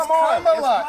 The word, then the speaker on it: Kamala: So pronounce her name right. Let me actually pronounce her name right. Kamala Harris. If Kamala. You said we don't call you Nancy Manchin. It's Kamala.